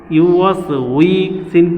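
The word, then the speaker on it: يُوَسْوِسُ: ইউ ওয়াস we, scene পেশ সু, ইউ ওয়াস উইসু, ইউ ওয়াস উইসু, ইউ ওয়াস উইসু, আল্লাযী ওয়াস উইসু।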